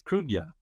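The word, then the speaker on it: Cruithne: It's Krunya, it's pronounced. It's I think it's spelled C-R-U-I-N-T-H-E, I think. Right. Which is a Scottish Celtic name, Gaelic name, as we'd say.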